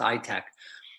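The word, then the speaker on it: ITAAC: the country they have something called an ITA a C's short pronounced i-tech they apply for a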